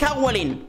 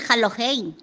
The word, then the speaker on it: Halloween: Grupo, feliz Howling. No sé quién eres, pero me parece que no se dice así. Se dice Halloween.